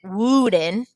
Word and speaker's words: wooden: It has that double O, but the double O says It does not say oo. We don't pronounce it wooden. It's wooden.